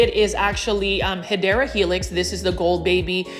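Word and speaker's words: Hedera helix: You can see this one is a heedra helix.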